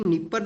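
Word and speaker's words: Dnieper: डी यहां पर silent है।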